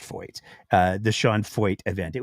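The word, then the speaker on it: Feucht: It's pronounced Foyt. It is pronounced Foyt.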